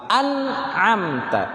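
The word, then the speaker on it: أنعمت: mim dia tawas uh terlalu mengalir tidak terlalu tertahan Tidak sehingga cara bacanya An amta An amta kalau terlalu mengalir an Nam tak kalau tertahan an amta tapi dia pertengahan an amta gimana an-najm tak ada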